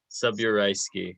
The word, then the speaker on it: Subureyski: last name i already i already flubbed your last name the pronunciation subureyski subureyski right yeah so mark subureyski um to